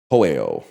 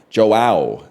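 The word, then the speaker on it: João: You say it like Joe. Okay, I was going to say Hoeo. So Joe is Joao.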